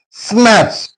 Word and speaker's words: snatch: Snatch T is silent.